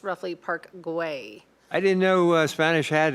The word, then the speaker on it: Park Güell: In Catalan, Park Güell is pronounced roughly Park Güell.